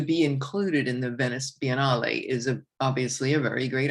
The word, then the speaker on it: Biennale: the Venice Biennale, or Biennale. I don't know how they exactly pronounce when they anglicize things, but the Biennale would be the Italian pronunciation.